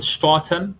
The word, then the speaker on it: stratum: So we've got the stratum, so it's stra and then term, the stratum corneum.